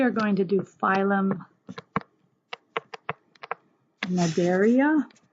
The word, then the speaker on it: Cnidaria: Okay, next we are going to do phylum Cnidaria. So the C is silent here. Phylum Cnidaria.